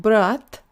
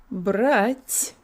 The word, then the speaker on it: братья: It does indicate that the previous consonant is soft, so it's not brat, it's brать, lots of air, brать.